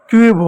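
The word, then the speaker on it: cube: उसी प्रकार सी यू बी ई, यू आया, यू के बाद कॉन्सोनेंट आया, ई आया तो ई साइलेंट होगा, सी को आधा लिखेंगे, सी का आधा क हो गया, फिर यू का यू हो गया, बी का ब हो गया, क्यूब हो गया, क्यूब हो गया, क्यूब।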